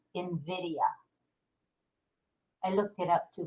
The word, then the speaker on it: Nvidia: is and meel says it's actually spelled n v i d i a but it's pronounced Invidia I looked it up